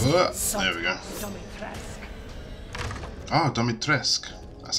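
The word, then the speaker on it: Dimitrescu: Oh, Domitresk.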